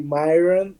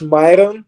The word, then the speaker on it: Marion: Everybody here in the US say Myron, and in Portuguese it's Myron, and you said it right, so thank you for that.